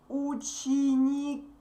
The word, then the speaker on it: ученики: Ученики. Ученики. The stressed vowel moved, and now the last E is stressed. Sorry. And ученики can be only boys or boys and girls together. Ученики.